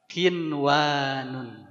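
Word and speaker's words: قنوان: bacanya Ya Kwan kan Kiwan nun sukun ketemu wau tapi ingat kita lagi mau bicarakan izhar mutlak jadi bacanya gimana qinwanun ya ininwan yang terakhir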